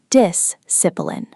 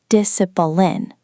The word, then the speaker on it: discipline: First word, discipline. The stress is on the first syllable. Disipline. Not discipline. Discipline.